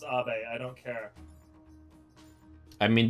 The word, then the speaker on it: Abe: Yes, I know that like he's Japanese, so it's pronounced Abe.